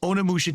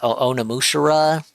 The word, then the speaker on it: Onimusha: You It's guys Onimusha. engaging and massively supporting my Yeah, it's like sim extra syllables gameplay to it.